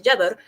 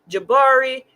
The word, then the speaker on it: Jabbar: Because the man's name is Jabbar, and I know nobody in Texas, Louisiana, anywhere over there is going to pronounce that name right. They'll probably say Jabari, Jaber, Jacob.